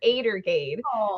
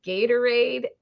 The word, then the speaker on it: Gatorade: it was Elfie-cent or Adergade. So Oh, that's kind even of adorable. she just now figured out that Adergade was actually pronounced Gatorade Uh-huh.